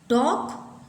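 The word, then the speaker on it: talk: टॉक, वॉक, चॉक, तो L हैज़ no sounds.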